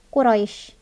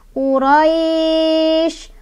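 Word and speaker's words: قريش: Makanya, cara bacanya adalah selain dilunakan, juga lunaknya panjang. Boleh 2, boleh 4, boleh 6. Quraisy, Quraisy, Quraisy. Gitu ya. Jadi bukan Quraisy. Li'ilafi Quraisy. Allah, kalau berhenti harus panjang.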